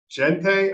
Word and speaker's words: Gente: One started in mid-September, Kevin Hoteling, and Alex Gente, I believe is the pronunciation of his last name. You know, it's Jente. ENT. Yeah.